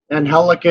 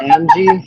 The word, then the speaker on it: Angelica: Angelica is, for those people that know how to say it. People that don't know how to say it say Angie.